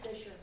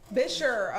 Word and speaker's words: Bisher: Okay, I know I said your name wrong. Fisher. Bisher, okay, that makes sense.